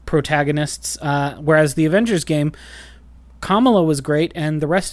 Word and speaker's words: Kamala: It's Kamala. It's not Kamala, because Kamala is Kamala Harris. Kamala Khan is how they say her name.